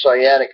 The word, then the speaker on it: sciatic: in reading about that how do you say it sciatic sciatic I keep wanting to say SCA or some reason but it's sciatic nerve and that's pretty